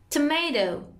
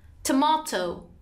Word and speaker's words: tomato: In American it's tomato and in British is tomato.